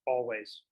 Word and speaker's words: Alvvays: want to check quick it is pretty uh pronounced always okay that's what i